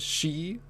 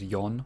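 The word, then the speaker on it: 四: unlucky number because uh one way of saying four is she so it sounds like shin which it's which is death and then uh which so they have an alternate pronunciation which is yon for for and then in china i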